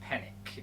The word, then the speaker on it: Penic: It's pronounced Penic, as in panic.